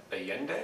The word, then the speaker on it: Allende: So let's move on to Allende, is that the pronunciation?